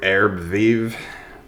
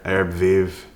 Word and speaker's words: Herbes Vives: but the brand new Arab viiv Oda perfum it's French right like living herbs you don't say the last letter Arab viiv I don't know been